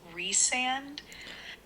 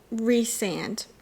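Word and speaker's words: Rhysand: memo so hold on the way you pronounce it is reand reand got it I just know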